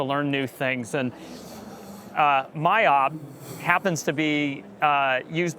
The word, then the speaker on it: MYOB: here in region so it's it's pronounced myob in our own region although it's interesting because